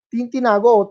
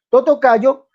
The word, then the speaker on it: Totocayo: que usted erra, amigo Tintinago, como, bueno, perdón, Totocayo, Totocayo, errando o no Dani. creyendo. Por favor, no me interrumpa. ¿Sí? Señor, pero está pronunciando mal mi apellido.